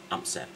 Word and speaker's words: amser: Right, first of all, I'm going to teach a word for time, which is amser. So, like every other Welsh word, it's pronounced as it's spelt, so amser.